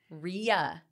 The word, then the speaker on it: Rhea: correct realas of wakeo I always say it wrong and I even listen to you say it like when we're at meetings and stuff and I still I don't know why Reya is stuck in my head Ria Ria yes it is Ria um but a lot